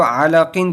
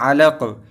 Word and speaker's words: علق: نیچے دو زیر ہے، ہجے پڑھتے وقت تو علاقین پڑھیں گے، لیکن جب اس کو روانی پڑھیں گے تو یہ ہو جائے گا علق، کاف کے اوپر ساکن ہو جائے گا، پھر تو ہو